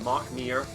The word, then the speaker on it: McNear: I would never have gotten this signed picture by Rana McNear, help him pronounce that, Mark Neer.